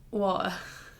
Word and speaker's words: water: Water. Water. Water. We don't pronounce this teas.